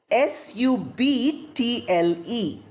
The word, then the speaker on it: subtle: S u b t l e. B is not articulated. We have s t and l subtle.